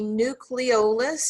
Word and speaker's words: nucleolus: it doesn't okay so the nucleolus it's like nucleus but it has like an extra syllable in there is that dark purple